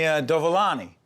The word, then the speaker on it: Dovolani: There he is, Tony Dovolani.